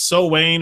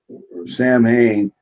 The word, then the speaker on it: Samhain: and it does it's so Wayne or so Haines or something like that it's strange it's not like how it's spelled yeah on this so we know Samhain was the god of